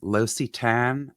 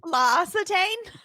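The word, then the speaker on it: L'Occitane: there's also a french company called and pardon the pronunciation locitan l apostrophe o-c-c-i-t-a-n-e there's one in beverly hills la acetaine i call it los-attain yeah so i had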